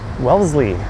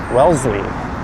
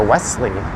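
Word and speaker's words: Wellesley: That is Welssley station. It's subtle, but you don't pronounce the S. You pronounce it as more of a zed or Z.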